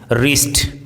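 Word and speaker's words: wrist: जैसे रंग राइट retain रिस्ट ring wrinkle Regal रेसलर rapper in सभी वर्ड्स में डब्लू आर साथ में है इसीलिए यहां पे डब्लू का उच्चारण साइलेंट है आज की क्लास में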